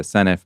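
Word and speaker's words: Senedd: Uh I used to say the senate, now I say the senif, but I haven't managed to properly internalize that the d is pronounced for uh in Welsh.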